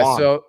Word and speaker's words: yuan: It should be with a J. Yeah. Juan. So President Xi told Gulf Arab leaders on Friday that China would work to buy oil and gas in yuan, a move that would